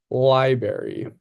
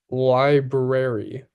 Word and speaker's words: library: For example, I pronounce the word library as library. My teacher responded, "It's actually pronounced library with both syllables clearly enunciated."